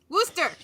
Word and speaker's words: Worcester: Worster.